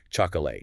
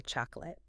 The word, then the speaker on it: chocolate: The basic rule is if a syllable in a word isn't the main stressed syllable, we often just get lazy and turn the vowel into awah. So we don't say chocolate. We say chocolate.